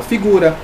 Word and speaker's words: figura: Qual é a sílaba tônica, a última sílaba tônica? Figura. Aqui, ó, de figura é gu, tá bom? Então, ó, figura, gu. Gu é a mais forte, é a sílaba tônica mais forte.